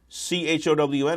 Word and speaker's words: chown: It's pronounced C-H-O-W-N.